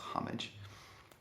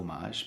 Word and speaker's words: homage: pronounced incorrectly very often I'm very sure that it's pronounced homage it's not an omage because that's French probably other words that